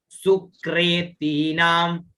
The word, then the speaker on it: सुकृतीनाम: या स्त्री स्वयं सुक्रेतीनाम, सु क में री की मात्रा, सुक्रे, और इसको क्रे में जो ये री है इसको रे का उच्चारण होता है ना, सुक्रेतीनाम, है ना।